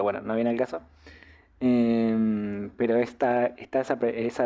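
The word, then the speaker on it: へ: de pronunciación m e por ejemplo esta que también se lee G pero cuando funciona como partícula que nos sirve para marcar la dirección la pronunciamos e bueno pasa lo mismo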